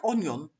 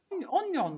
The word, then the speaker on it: onion: When they say, would you like onion? Onion rings. It's onion.